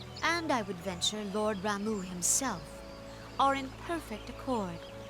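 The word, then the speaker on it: Ramuh: It's Ramu, not Rama.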